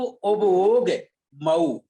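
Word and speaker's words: उवओगमओ: देखिए बहुत सरल है, जैसे जीव मजीवम कहा ना अपन ने, उसी तरह से जीवो उबओग मऊ, उबओग मय है, आप बोलिए इसको।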